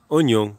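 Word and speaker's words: Ognon: Ça s'appelle oignon, comme l'oignon qu'on mange, mais ça s'écrit pas pareil.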